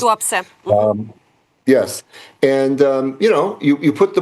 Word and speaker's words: Tuapse: out like they just hit the port of Tupea, I believe it's pronounced. Tuapse.